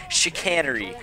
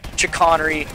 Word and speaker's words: chicanery: to botch the name it is chicanery not chicanery or chicken airy a lot of people were watching the name on this so i decided to look it up and that is how google pronounces it is just chicanery the amelie chicanery so